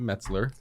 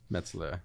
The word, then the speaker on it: Metzler: you actually pronounced it metzler metz metzler like new york mets yes and i tell